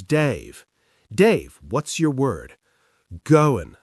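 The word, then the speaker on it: Goan: Goin, spelt G-O-A-N, pronounced goin.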